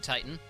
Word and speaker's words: Titan: summon teton i mean titan i believe teton is actually closer to the enable what's up i believe teton is actually closer to the official greek pronunciation yeah which is part